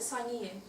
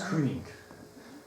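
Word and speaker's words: cyning: Is it Sinian? No, it's Kuning. With Old English, the C is always pronounced as a K.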